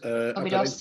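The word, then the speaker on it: Óbidos: Obidos, yeah.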